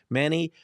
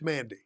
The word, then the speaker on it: Mandy: Before we get to our first guest, Manny and Bruce, thank you for pronouncing that before I had to try. Uh, it's Mandy.